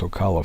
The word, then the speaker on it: Ocala: I actually hope, if you're in the area of Ocala, I believe is how it's pronounced, Ocala, Florida, Ocala, that you plan to stop by and see this museum, because it is awesome.